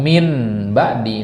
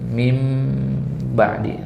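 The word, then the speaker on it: مِنْ بَعْدِ: menjadi mim gitu ya Jadi bukan Min ba'di tapi mim mingkem ya bibir ketemu bibir Ya kalau min itu enggak ketemu bibir ya Jadi kalau ada membaca nanti w yubaddil nmatallahi min badi keliru Min kelihatan gigi salah Sudah ya yang benar pasti harus ketemu bibir di situ wubaddil nmatallahi mim mim ba'di nah itu yang benar di situ Kenapa karena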